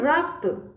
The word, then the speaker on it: रक्त: 78 नन्हा 74 रक्त अब यहां देखिए र है फिर आधा क है इस तरह से है क फिर उसके बाद आ त का उच्चार होगा फिर पूरा त का उच्चार होगा ठीक है क्या बोलेंगे रक्त य देखिए आत्म नन्ही